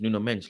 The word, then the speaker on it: Nuno Mendes: Nuno Mendes, but his actual pronunciation is Nuno Mendes, like Bruno Fernandes.